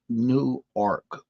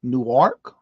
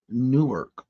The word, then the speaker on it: Newark: bed I was exhausted pronounced nework New York anyw a RK no Newark Newark I thought was new AR okay uh Andrew hello